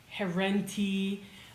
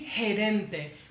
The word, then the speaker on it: gerente: It's actually gerente. Pretend you're saying the word head. All right? Two words, head and dente, gerente.